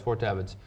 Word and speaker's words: Fort Devens: let's call Donnie Devon's okay to have its Fort Devens so you were somewhere prior to Fort Devens